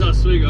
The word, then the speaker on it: Oswego: oswego las vegas oswego that's how you say it's oswego i don't care what anybody else says it's exactly what it is oswego new york is